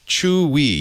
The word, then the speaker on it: Chuwi: Spell it for me. CHUWI. WI. Chewy.